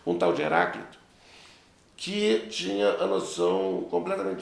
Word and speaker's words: Heráclito: Eles gostavam de nomes assim, com o próprio paroxítona, né? A terceira sílaba de trás para frente, que era a sílaba forte. Um tal de Heráclito, que tinha a noção completamente diferente.